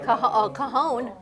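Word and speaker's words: Cajón: Cajon. A cajon? That's No. Spanish for something I know what else. that is. It's spelled I already messed it up.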